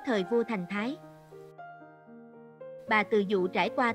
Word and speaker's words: Từ Dụ: Từ Dũ là do phát âm sai của Từ Dụ mà ra.